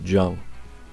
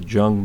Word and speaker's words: Juenge: i couldn't sand out i believe the maker's mark is j-u-e-n-g-e i'm going to pronounce it jung in 1910 reinhold h